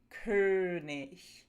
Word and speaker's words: König: If you're having trouble producing this sound, start with A and then round your lips and make everything really tense. A uh uh König So, now we've got the tense version.